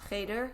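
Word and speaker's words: חדר: In Satmar, which is what I know best, it is cheder. That's how it's called. Any K through 8 is called cheder or chayder is how it's pronounced in Yiddish.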